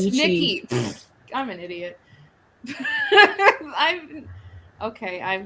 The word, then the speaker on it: Nietzsche: Yeah, Nietzsche. Yes. But we should say it like the the famous philosopher names like niche.